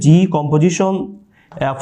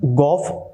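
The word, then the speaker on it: g∘f: করি এটার উচ্চারণ হচ্ছে জি কম্পোজিশন এফ অফ এক্স জি কম্পোজিশন এফ অথবা জি এফ আচ্ছা এটার উচ্চারণটা গফ অথবা ফগ না জি কম্পোজিশন এফ এফ কম্পোজিশন জি যেটা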